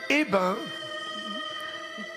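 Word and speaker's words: Eybens: On peut toucher Hébin, c'est ça vous appelez? Eh ben, on prononce pas le S final.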